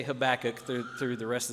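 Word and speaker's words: Habakkuk: and landed on, uh, the way I've been saying it seems to be the more common way, uh, at least here in America.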